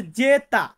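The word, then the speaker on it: zeta: ইফসিলন ইফসিলন এন্ড লাস্টে যেটা আছে সেটা হচ্ছে জেতা জেতা মানে হচ্ছে জেড যেটাকে বলে থাকি সো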